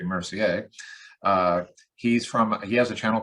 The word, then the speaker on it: Mercier: Today I have Mercier, or correctly pronounced actually Mercier.